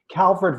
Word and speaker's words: Calvert: Calvert Vaux rhymes with rocks.